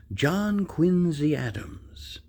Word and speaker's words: John Quincy Adams: I wanted to talk about an individual that's very important in our history, and that is John Quincy Adams.